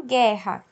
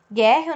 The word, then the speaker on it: guerra: com som de gum mesma coisa em guerra guerra não escuta o separado eu escuto um só som é faço só uma